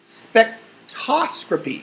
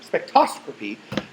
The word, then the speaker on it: spectroscopy: So the science of spectroscopy, I keep saying it wrong, spectroscopy, goes back to the early 1800s, where William